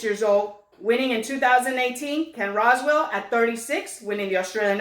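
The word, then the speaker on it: Ken Rosewall: you said who's the oldest winner and I pronounced it wrong how is it Ken Roswell I'm gonna tear you up was 37 years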